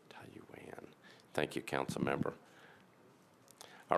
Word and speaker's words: Taiyuan: I'm going to Councilmember Weiner to tell me how to pronounce the name of our sister city. Taiyuan. Taiyuan.